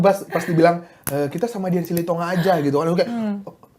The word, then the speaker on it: Silitonga: Baru Silitonga. Kan tadi udah perkenalan Dian Silitonga. Iya. Cara bacanya Silitonga, bukan Siliton enggak? Silitonga. Sili.